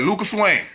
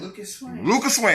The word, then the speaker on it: Lukas Swing: together yeah i'll be like lucas wayne yeah lucas swing i don't even say the s off to